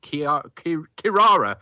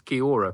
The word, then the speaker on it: Kirara: Bodyguard called Kirara, but I still do mispronounce it as Kiora, which has been unfortunate, really.